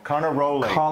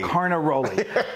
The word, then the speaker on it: Carnaroli: Carnaroli. Carnaroli.